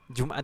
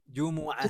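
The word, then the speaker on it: جمعة: kita misalkan hari Jumat Jumat itu kalau dalam bahasa Arab itu seharusnya bagaimana ibu-ibu pelafalannya imbuhnya juga Jumuah bukan jumlah tapi doa minum mobil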